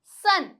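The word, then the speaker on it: son: only only ठीक है अब ओ की ए साउंड देखते हैं एस ओ एन सन सन आ रही है सन अ की साउंड आ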